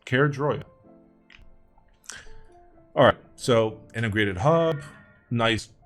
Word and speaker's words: Caerdroia: It's Caerdroia.